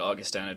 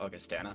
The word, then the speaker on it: Augustana: league you know I'm very glad you said Augustana because I honestly forgot we were told by uh Carol during the break our Observer and an amazing staff member here at NECC that it is pronounced Augustana not Augustana apologies for that for anybody who